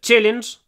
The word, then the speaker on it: challenge: it's a challenge challenge and the CH I would say is really quite soft it's like saying um CH with a sh afterwards challenge chass chass challenge sha challenge so there's more sh sh in it challenge I have a